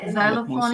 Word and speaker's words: xylophone: Xylophone itu udah betul tuh. Apa ya, Mem? Xylophone itu ya, Mem? Spellnya, oh, I see. Ini mainan anak-anak ini xylophone. Xylophone. Lucu ya, dia X tapi dibacanya Z gitu.